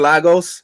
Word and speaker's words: Lagos: I feel like she caused the death of people in Lagos or Lagos. They're not pronouncing that correctly, by the way.